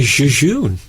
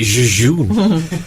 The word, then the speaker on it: jejune: But a lot of people say Jejune. As if it's a French. Or he's very jejune. I've never known how... That's a word I've never known how to pronounce. It's jejune. It's from the Latin.